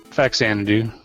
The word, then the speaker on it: Faxanadu: do you pronounce it faxanadu okay that sounds right faxanadu yeah I was a little confused on whether the X was pronounced with a z you know how you